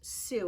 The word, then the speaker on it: sous: them the sous pronounced sous it's spelled s o u s it doesn't look like su but it's pronounced su the sous chef is